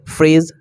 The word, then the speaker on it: fridge: उसी तरह से फ्रेज, FRIDGE होता है तो यहाँ पर डी साइलेंट रहेगा क्योंकि जी से पहले डी आया है तो यहाँ पर डी साइलेंट रहेगा, तो यहाँ पर फ्रेज पढ़ेंगे।